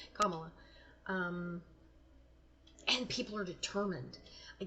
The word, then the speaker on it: Kamala: Okay, Kamala. Sorry, I said her name wrong. Kamala.